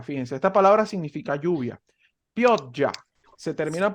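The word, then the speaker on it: pioggia: aquí una palabra fíjense esta palabra significa lluvia piotya se termina pronunciando así esta palabra es tarde tarde no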